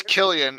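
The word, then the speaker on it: Cillian: San Killian Murphy for I never know if it's San or Killian I know like am I been saying it wrong this whole time no I I thought no you know what I knew it was Killian and then people started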